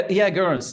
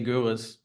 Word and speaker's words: Goeres: Yeah, Garris. It's actually a thing, right? To say that name right. It's in German, I would say Goeres, the O, but yeah.